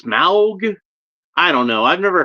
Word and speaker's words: Smaug: I always when I read it thought Smog, but like I guess it's Smaug.